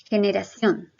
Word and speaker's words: generación: una palabra aguda y si yo la pronunció en voz alta digo generación que neira acción entonces me doy cuenta que realmente es una palabra aguda tú puedes hacer lo